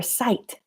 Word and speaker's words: sight: The GH is silent. So now you know this is your site.